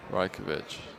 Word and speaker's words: Rajkovic: I don't know if you're trolling or not, but Rajkovic.